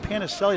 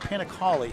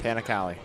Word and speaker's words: Panicali: looks like Panicelli. It's pronounced Panicali. Panicali. I asked her earlier. It's Panicali. Some say she says Collie or Cali. Either one she says is fine.